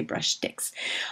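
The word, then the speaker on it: Brushstix: It's spelled BRUSHTIC. That's why I say brush sticks.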